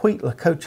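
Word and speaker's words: huitlacoche: that what they call wheat lacoche, I think is how you say it.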